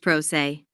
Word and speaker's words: pro se: a PR party or Pro litigant pronounced prosay if you are a